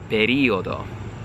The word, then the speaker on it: periodo: a native English speaker, I would look at this and say periodo, right? But here is what I have come to learn over the course of time of studying Italian. That's not where the stress of the word is supposed to be. I'm not supposed to be putting stress on the end of the word. It's on the beginning. So in Italian, I have to say periodo, okay?